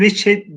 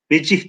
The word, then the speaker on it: vecih: İkinci kelimeyi veçe diye değil de veç, vecih diyelim en azından.